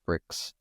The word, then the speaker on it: BRKZ: This is about Saudi BRKZ, I guess pronounced bricks, who have closed a 17 million Series A for a construction tech platform.